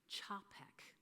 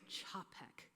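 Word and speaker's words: Čapek: was his last name I'm gonna say it and then I'm gonna ask you to pronounce it after me Capek you may hear it differently but it was Capek Norbert Capek so he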